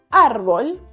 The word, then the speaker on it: árbol: las sílabas por ejemplo la palabra árbol tiene su acento en la sílaba ar porque si no sería árbol entonces el acento se